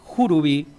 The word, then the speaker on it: churubí: Los españoles lo llaman churubi, pronúncie jurubi, pero los mocovíos lo llaman asibaik.